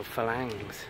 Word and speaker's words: farangs: full of white people or farangs or falangs there's you know you don't pronounce the odds here but anyway all right